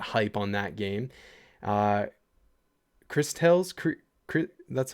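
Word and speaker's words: Cris Tales: Uh, Chris Tales, that's how it's pronounced, right? Chris Tales? Chris Tales, yeah.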